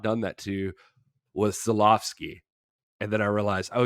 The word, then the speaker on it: Żuławski: done that to was Żuławski. And then I realized, oh yeah, his W's a V.